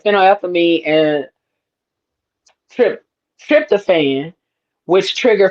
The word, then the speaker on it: phenylethylamine: it fin la how that fin la yeah, phenylethylamine. That's what yeah, that looks like. yeah, Phenylethylamine. yep. Okay, And that puts the so is the that is love. one. Yeah, it contains compounds like phenylethylamine and trip tryptophan, which trigger feelings of pleasure,